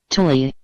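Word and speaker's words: Thule: are me MERS of the thuli society pronounced Tuli the thuli society is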